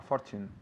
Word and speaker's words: fortune: a Fortune of Fortune remember that Tu sound Fortune to you Fortune not Fortune but Fortune again your calls are going to cost us a fortune it's like Portugal that same sound Chu Fortune say that again